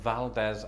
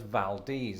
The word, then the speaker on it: Valdez: a spanish naval officer locals in fact pronounce it as valdez as in valdez nuts does that is that